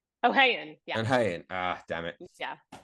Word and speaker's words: O'Hayon: I'm going to say O'Hearn. O'Hayan.